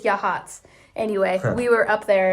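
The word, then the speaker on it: Yachats: Um, which is spelled like Yakit. It's so funny, but I think it's Yahhatz.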